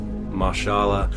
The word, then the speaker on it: Mahershala: and obviously when I heard the casting of mashallah I leave that's how you pronounce his name I just knew it's gonna